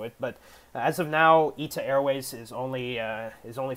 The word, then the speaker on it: ITA Airways: i thought it's i thought it's like uh ita airways but um guys on youtube told me that uh it's pronounced it's it's actually pronounced eta airways this is actually a new airline in in